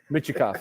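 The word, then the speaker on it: Mintyukov: I'm not even going to try to say his name right now because Mityokov. Michikov. Michikov, is that right? Michikov, yeah.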